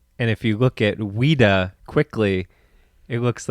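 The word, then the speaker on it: Ouida: Maria Louise Ram but her pen name was weda O UI d a and if you look at weda quickly it looks like Ouiji or Ouija Ouija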